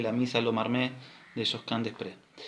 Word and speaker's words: Josquin Desprez: Misa Lo Marmé de Josquin Desprez. No sé si lo pronuncié bien, perdonen. Si no, alguien me manda un WhatsApp y me corrige. No, profe, se dice Josquin Desprez, se escribe así, ¿sí?